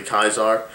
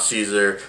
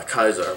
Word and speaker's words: Caesar: rest in my mind it's actually kaisar not Caesar we've been mispronouncing it this whole time so you know you know we're all ignorant fools and from now on I'm going to try and shed that and and pronounce uh Caesar as it should be uh kaisar but that also means